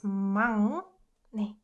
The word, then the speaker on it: 막내: rules that we learned so far, you can pronounce this one correctly. 막내. 윽 softens to right? That's why it's 막내.